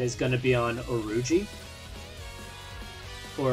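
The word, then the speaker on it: Urouge: Or Arouge. I don't really know how his name is supposed to be pronounced. I had to wiki it up to see it was Oruji, but I've always called him Arouge.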